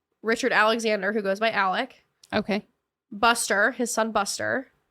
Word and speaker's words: Alex: name is Alexander but they call him Alec but it's spelled Alex it's annoying wait oh